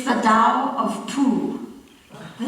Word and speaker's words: Tao: qing by the way tao is pronounced with a d not a t there's also a movie